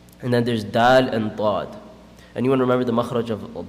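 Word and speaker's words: ض: So the side of the tongue, it touches the gums of the premolars and the molars. And this is one of the hardest letters to pronounce in the Arabic language. Dad. It creates a bubbling sound.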